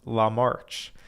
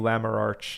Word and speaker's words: Lamarch: Jordan lamarch he says my last name is pronounced Lam March apologies for butchering your name over the past few few live streams Jordan I think I was calling you larar instead of Lamar my apologies so anyways